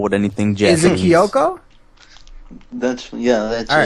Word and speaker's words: Kyoko: Is it Kyoko? That's All it. right, Kyoko.